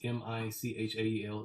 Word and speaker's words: Mychael: really oh no no you you pronounce it regular like is it this m-i-c-h-a-e-l is michael yeah yeah it's just it's just with the y yeah not sure so